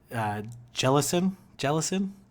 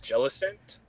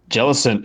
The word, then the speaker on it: Jellicent: I think it's Jellicent. Jellicent. Yeah. I could be wrong. Yeah. I'm pretty sure it's Okay. Jellicent. That's it. Okay, I gotta pronounce the T. Hard T.